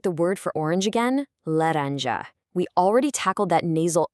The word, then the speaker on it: laranja: In Portuguese, this is not a hard, punchy English J like in jump. No, it's a very soft zh sound, literally identical to the middle consonant sound in the English word measure.